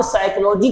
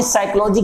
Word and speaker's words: psychology: एक बार सीटेट में क्वेश्चन पूछा गया था कि साइकोलॉजी शब्द में, सीटेट का क्वेश्चन मैं बता रहा हूं बेटा, एक बार क्वेश्चन पूछा गया कि साइकोलॉजी शब्द में कौन सा वर्ड साइलेंट होता है या कौन सा वर्ड ध्वनि रहित होता है।